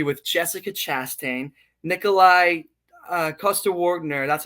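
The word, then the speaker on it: Coster-Waldau: Like he Morgan was in a movie with Jessica Chastain, Nikolai uh Costa Wner, that's how you say his name.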